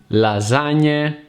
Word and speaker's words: lasagna: a single sound and the G is silent it's similar to the NY sound that you make when you pronounce Kenyan some words with the GN sound are naki lasagna and renew spider the